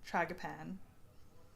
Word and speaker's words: tragopan: Tragopan.